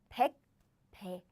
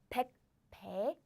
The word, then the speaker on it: 백배: So I don't say 백배. I say 백배, 백배. I pronounce this pronunciation as in 배, 배 strongly because there is an air blocking sound.